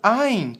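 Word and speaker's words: ע: Alef não possui som o Aim também não possui som o Alef ele é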